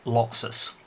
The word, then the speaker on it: Locxis: the Rev Barry AK Laxus so Laxus is spelled loc X is the Laxus is raspberry